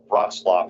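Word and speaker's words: Wrocław: South Dakota and uh rlap is how you say it's not how you spell it Poland so as was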